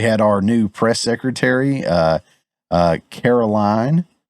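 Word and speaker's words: Karoline: Also, we had our new press secretary, Caroline, I believe is how you say it, Caroline Leavitt.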